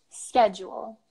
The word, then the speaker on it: schedule: would you say this schedule we'd say schedule so that the sound of the beginning completely changes schedule and schedule but I use the